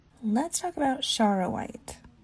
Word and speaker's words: Charoite: let's talk about chara white i've always pronounced it shower white but some people pronounce it chawrite charaway is a rare